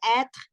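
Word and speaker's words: être: qué razón se pone se pronuncia et porque la e no va tildada Y esta primera e lleva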